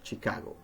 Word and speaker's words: Chicago: as sugar, sure, while other words that are written with CH are pronounced sh, as in chef or Chicago.